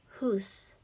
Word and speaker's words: whose: Next, whose, whose, whose. Okay, silent W again. Next, suppose, suppose, suppose.